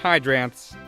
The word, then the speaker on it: Hydranths: First thing is it's pronounced hydrants which is named after the feeding zoids that hydroids have which are often the juvenile stages for hydroone jellies.